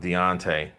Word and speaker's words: Deontay: play on deante's name Beyonce rhymes with Deontay Wilder has no reason